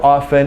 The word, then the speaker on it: often: the t- sound here I prefer no T sound you will not hear a t- sound when I pronounce the word often and you will not hear a t- sound from some you know 50% or so of Americans Okay so we've got